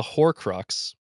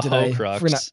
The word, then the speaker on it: Horcrux: your outline it's a for one it's a hor Crux but you keep calling it a ho you keep calling it a hux did I not pronounce there's no you have